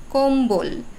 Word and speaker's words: কম্বল: এবং ব তো এই ম এর সাথে যখন ব ফলা যুক্ত হবে তখন সেই ব এর উচ্চারণ অবিকৃত থাকবে যেমন লম্বা কম্বল লম্ব সম্বল এখানে ম